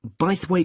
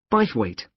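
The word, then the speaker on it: Bythwaite: free and the show is being held in bwe Hall sorry how do you spell that b y t h w a i t e b weight is it easy to find I'm not very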